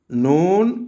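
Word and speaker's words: نون: উচ্চারিত মিম নুন নুন নুন কোথা থেকে উচ্চারিত হয়?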